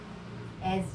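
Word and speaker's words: edge: है that is इज, एज जिसको हम बोलते हैं, किनारा। ठीक है, तो जे में ई की साउंड पहले देती है और डी जो है वो साइलेंट है, तो एच उसी के साथ में इंक्लूड करके बनाया है।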